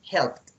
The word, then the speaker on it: helped: In this moment, in this case, when the verb finished with in P, in K, in SH, in CH, in GH, in TH, SS, C, or X, so you have to pronunciate just with T.